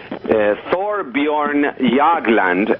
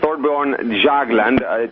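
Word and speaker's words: Thorbjørn Jagland: Well, now It turns out that Thorbjorn Jagland, and I pronounce it correctly because I'm half Swedish. I know you did an excellent job of that, by the way. Yeah, Thorbjorn Jagland, chairman of the Nobel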